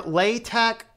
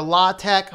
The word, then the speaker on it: LaTeX: book he talks about the etymology coming from the Greek tech which comes from art which would be pronounced tech specifically so the first part is either lai tech or law tech but since he does